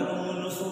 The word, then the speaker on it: Lomonosov: आता हा जो लॉ आहे तो सुरुवातीला 1765 मध्ये सायंटिस्ट जिचं नाव आहे लोमोनोसो असं नाही म्हणतात का, लोमोनोसो म्हणायचं. इंग्लिश प्रोनाउन्सिएशन नॉलेजला नॉलेज असं म्हणत नाही आपण, के जरी स्पेलिंग असलं तरी.